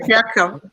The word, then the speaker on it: patriarchal: How do you pronounce that word? Patriarchal.